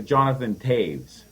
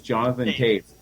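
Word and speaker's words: Jonathan Toews: you but it's the Jonathan Taves I know I know it it's not spelled like that but that's how it's pronounced it's Jonathan Taves yeah right but he's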